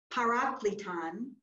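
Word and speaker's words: παράκλητον: In blue or purple there, you've got the Greek word Paraklēton, which is how you, that's the transliteration. Paraklēton is how you say the Greek letters underneath the blue word. And remember, this New Testament was written in Greek. So if you read an original transcription of John's gospel, you would be seeing the Greek letters that you see under the blue, and we would be pronouncing it Paraklēton.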